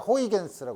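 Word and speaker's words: Huygens: 것 중에 하나가 아이 사람을 발음을 하기가 어려운데 사 여러 사람마다 다르게 최근에 어디 유튜브나 딴 데서 보면 여러 가지로서 발음을 하 난 그냥 호이겐스 해요 호이겐스는 사람이 이사 파동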